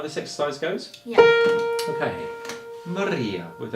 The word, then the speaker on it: Maria: Maria with a. If you can roll your R, that's fantastic. If you can't, you could replace it with an L. So you say Malia instead.